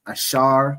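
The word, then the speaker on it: אשר: So those those countries in between there are predominantly the tribe of Asha right in the Hebrew it's ash pronounced ashar which means happy the symbol is the royal dainties which is typically grapes.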